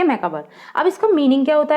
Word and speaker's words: macabre: Pronounce में वैसे ही BER लग रहा हो, मैकाबर बोलेंगे, लेकिन BRE है, यही अंतर जानना है आपको।